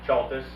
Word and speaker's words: Chaltis: Chaltis. Can you spell it?